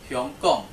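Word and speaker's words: 香港: Okay, Hong Kong is pronounced Hyong Kong.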